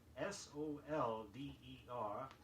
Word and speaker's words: solder: Even though it is spelled S-O-L-D-E-R, say solder.